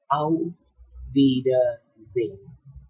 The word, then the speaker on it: Auf Wiedersehen: But for those who speak German, they know one, that it needs to be pronounced as Auf Wiedersehen, and it means goodbye.